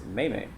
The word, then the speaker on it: meme: Like if they somebody posts a meme or a joke, I always pronounce it as meme. But my wife pronounces it as Maymay.